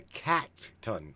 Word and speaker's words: katun: Then we've got what's called the katun, which is spelled k a t u n and that is the number zero.